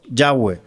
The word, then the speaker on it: Yahweh: Porque es es la la mejor eh no interpretación, sino eh la parte fonéticamente es como se pronuncia mejor. Yahweh.